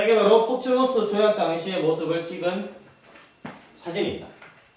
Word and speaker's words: 포츠머스: 그렇지, 포츠머스 지역입니다. 포츠머스라고 하게요. 포츠머치. 다 상관없습니다. 포츠머치. 자, 그냥 한글 발음의 차이지. 다 똑같다라고 보면 돼요.